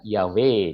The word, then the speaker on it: Yahweh: ya Oke jadi saudaraku dengarkan ya weh dia bacanya begitu lemot jadi tahu sebenarnya orang Yahudi melafalnya gitu ya hak di belakangnya tidak terlalu terdengar oke nah baik sekarang